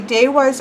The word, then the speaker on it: Devas: Devas is what looks like Devas is supposed to be pronounced Daehwas.